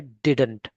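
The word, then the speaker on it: didn't: इट is also pronounced as डिन in American English. इसको American English में डिन भी प्रोनाउंस करते हैं, है ना।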